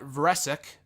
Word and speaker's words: Vresic: At Real Brett Vresic, that's how you pronounce it, from Twitter, is putting the Universal